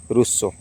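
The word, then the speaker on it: Rousseau: question इतिहास विभाग पिला पियो जिन okay Jin रूसो आर ओ यू एस एस ई ए you okay pronunciation plan के ध्यान थवा सब वर्ड के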